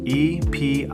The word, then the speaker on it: epitome: 4 syllables, and that final E is not silent at all.